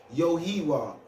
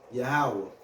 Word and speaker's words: Yahweh: with the American Indians, they say we were saying Yohiwa. We was trying to say Yahweh. That's the ancient way to say his name, Yahweh, in the Hebrew tongue.